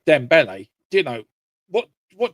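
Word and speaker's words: Dembélé: Dom um Ramos and um Donle is it Donle? Sorry, maybe I'm getting his name wrong. Yeah, Dembele.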